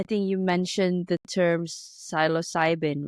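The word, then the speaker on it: psilocybin: amazing so I think you mentioned the term silos cybin right am I producing it correctly absolutely pronouncing okay yeah so so this this type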